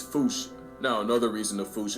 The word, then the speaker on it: Fossa: apparently the correct way to say it is Foosh. Like Foosh, with a performance anxiety at the end. Experts feel free to correct me, but apparently that is the closest to the OG Malagasy pronunciation. It's just that the global game of telephone has Americans saying Fusa, while England pronounces it as Fossa.